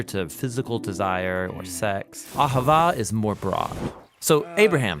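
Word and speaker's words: אהבה: word in most languages as it is in ancient hebrew it's pronounced ahava it most basically refers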